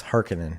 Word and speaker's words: Harkonnen: at the end Baron Harkonnen I don't know harkonnen Harkonnen it's harkening yes I remember that I'd